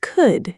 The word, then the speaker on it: could: We don't say the L sound. So, it sounds like could and should, not cooled and shooled.